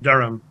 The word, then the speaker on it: Durham: Depende en qué lugar de Inglaterra, pero para los locales acá es Durham o algo por el estilo. Bien. O sea, no va la H como J.